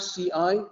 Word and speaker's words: ci: When you have C-I, it's supposed to be ci, it's like T-S-I.